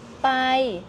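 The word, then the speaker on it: ไป: Pai se prononce pai pour les francophones.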